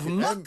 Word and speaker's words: Muck: Muk. Isle of Muk. Muk. There's there's an island called Muk. Put them there. There is a muk.